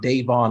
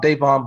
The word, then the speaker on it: Davon: my given name is davon long a long a davon um i've been married